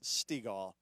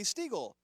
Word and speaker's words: Stegall: If you say, oh, Stegall, I would say, no, it's Stegall. And then they'd say, oh, Stiegel. And I'd say, no, it's Stegall. My wife's really good at it. She'll get you. If you say it wrong, she'll say it's like the ball.